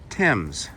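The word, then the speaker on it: Thames: It's spelled T H A M E S, but pronounced Tims, like a T E. Tims Creek.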